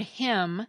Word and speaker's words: hymn: The word hymn, as in a hymn that you sing in church, has a silent N at the end of it.